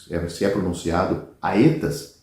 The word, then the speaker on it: aetas: que tem e conhece, que se é pronunciado aetas, que se traduz por era.